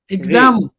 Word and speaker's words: example: The second syllable was the stressed one here, or is the stressed one here?